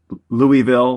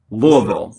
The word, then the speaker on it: Louisville: Um if you're not from Kentucky, people say Louisville, but it's Louisville.